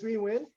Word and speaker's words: Huy Nguyen: So my name is Huy Nguyen. Huy Nguyen for short, with the is the easy way to pronounce my name.